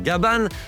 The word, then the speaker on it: Gabin: D'ailleurs fun fact en VO le personnage principal s'appelle Gaban car c'est comme ça que les Japonais prononcent le prénom Gabin.